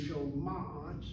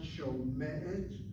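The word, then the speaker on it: שומעת: He shoma'at, the shoma'at word is not shomet.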